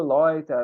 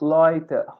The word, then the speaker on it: Leute: Gente, viu EU é oi. O som é oi.